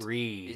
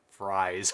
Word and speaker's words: Fries: So, Ed Fries is pronounced... Freeze. Is Ed Freeze. Yes. Oh, I learned this the hard way when I pronounced it as Fries when talking to him in person. But I mean, that's how it's spelt, though.